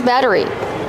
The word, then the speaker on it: battery: We see the double T making a fast D sound. Batter. Batter. Batteries. Like water bottle. Make sure it's a fast D. Batter. Batteries. Not a rolled R.